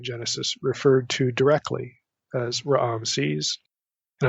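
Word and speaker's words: Ramses: referred to directly as Raam sees and I'm saying Raam sees for a that way for a particular reason we'll get to that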